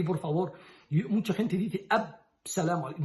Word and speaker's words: as-salamu alaikum: No es Salamu alaikum, la palabra ya sabemos, salam es la paz. Y asa, porque la lam es solar. As-salamu, no pronunciamos la lam y doblamos la sin. As-salamu alaikum. Así muy claro.